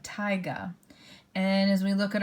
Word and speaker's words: taiga: biome is called taiga I know that AI is a little confusing but taiga and as we look